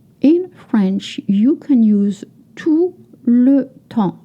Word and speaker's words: tout le temps: You don't pronounce the consonant at the end of French word.